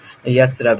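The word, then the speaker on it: يثرب: तो मदीना का old name जो है वो यसरब है, यसरिब है। ओके, यथरब यहाँ पे लिखा जाता है लेकिन इसे प्रोनाउंस जो है वो यसरब किया जाता है।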